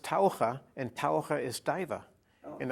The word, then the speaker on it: Taucher: know what that means in english diva it's pronounced taurah and taura is diva and i have to